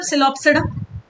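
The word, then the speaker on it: Psilopsida: ये देखो, सिलो मतलब सिलोप्सिडा, ओपी any which way silent है, तो हमने सोच लिया सिलो मतलब सिलोप्सिडा, ये सिलो मतलब सिलोटम।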